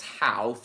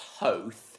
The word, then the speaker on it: Howth: I know for a fact that while most people pronounce this place Howth, I know for a fact that it's pronounced Hoth. Yeah, it's Hoth.